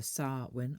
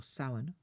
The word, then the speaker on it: Samhain: The word Samhain, written as Samhain, but pronounced either Samhain or Samhain, emerges from the Old